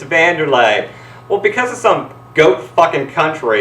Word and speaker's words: Wanderlei: know what you're saying right now it's not pronounced wlay it's vanderlay well because of some goat